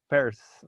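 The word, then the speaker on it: Peirce: el dato no s se pronuncia bears muchos dicen pierce pero la está al revés no la las letras no entonces este luego con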